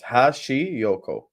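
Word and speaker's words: Hashioka: about seven different times Hashi Yoko hash like hash Yoko very simple Yes fake scores equal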